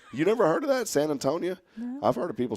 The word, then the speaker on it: San Antonio: Oh, and by the way, my sister added in a 4th way of pronouncing this town. Okay. It's San Antonio. Mm-hmm. So it's San Antonio, San Antone, San Antonia.